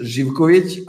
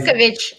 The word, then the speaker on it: Živković: inside Balkans is Živković, outside is Zivkovic, I'll say yeah.